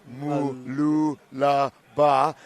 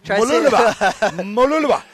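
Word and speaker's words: Mooloolaba: 6, it's pronounced Mululaba. Try say it fast. Mululaba.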